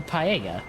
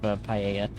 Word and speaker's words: paella: It is spelled in a way that does not look like it's pronounced that way.